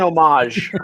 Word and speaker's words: homage: say that is it homage homage yes dan he'll know copic yeah i think it's i think it's an homage i think it's a punch the hoe is silent i i really love